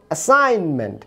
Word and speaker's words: assign: আবার দেখুন অ্যাসাইনমেন্ট, ASSIGN, জির পরে এন থাকার ফলে জি এর উচ্চারণ হচ্ছে না।